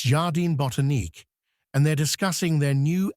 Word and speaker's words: Jardin Botanique: I would say an English way of saying it would be Jardin Botanique. Jardin Botanique. Yeah, that could work.